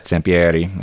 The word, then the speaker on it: Sampieri: Sampieri, as it would be pronounced in Italy.